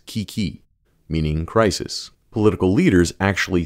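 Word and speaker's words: 危機: as ownio me or the Japanese rendering of the imported Chinese pronunciation as Kiki meaning crisis political leaders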